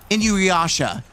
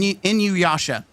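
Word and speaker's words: Inuyasha: I don't think Inuasha. I'm still not saying it right. But yes, that's that's it. In in you fudge. Okay. This going to bother me. It's bothered me so much that I'm going to do this. I said it. Dang it. What the hell? Why does that look like sword art? What guys? Okay. In you in Inu Yasha. I think I said it right.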